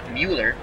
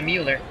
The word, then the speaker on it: Mueller: Here comes Don Mueller. Thank you to Cubs the Bears for giving me the proper pronunciation. Spahn looking at turn 2. Crandall sets the target. He deals to Mueller.